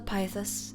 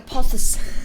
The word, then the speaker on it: pothos: It's like a pothos. P-O-T-H-O-S. Pothos. Not ficus.